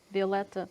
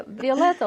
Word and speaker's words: Violeta: Yeah, Violeta like violet with A at the end.